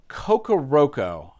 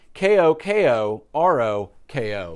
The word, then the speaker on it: Kokoroko: and talk about an album that I always mispronounce the artist's name that is from kokoroko I think I got that right I always have to double check ko-k-o-r-o-k-o kokoroko the reason why I always mess that